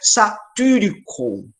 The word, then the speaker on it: Satyricon: Lembrando que esse Y é o Y grego, então tem que fazer biquinho para pronunciar. Então, é satyricon.